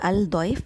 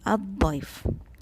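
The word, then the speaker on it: الضيف: It's not al-daif, it is ad-daif.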